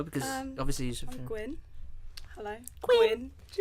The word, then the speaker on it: Gwyn: I'm Gwyn. Hello. Gwyn. Not Gwen. Gwyn.